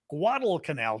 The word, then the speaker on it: Guadalcanal: We say Guadalcanal. Guadalcanal, to say it correctly.